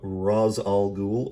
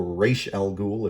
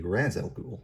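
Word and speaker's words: Ra's al Ghul: al-ghul daughter of uh raz al-ghul or reish al ghul if you're a fan of pronouncing it that way although that's technically not how arabic works it should be raz al-ghul i'm i'm going off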